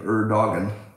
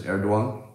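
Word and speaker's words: Erdoğan: I want to pronounce his name Erdogan, but I believe it's Erdogan.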